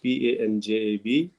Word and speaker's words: Punjab: Uh, we use the word Punjab, but if you look at the correct pronunciation, that is the Punjab, Panjab, but it is not written in the government records and things.